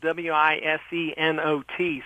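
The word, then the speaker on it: Wisenot: What I would say is that his name is spelled W-I-S-E-N-O-T, so it sounds like wise not.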